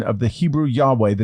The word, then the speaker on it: Yahweh: grammaton Yahweh was never lost the name was pronounced Yahweh it was regularly pronounced this way until at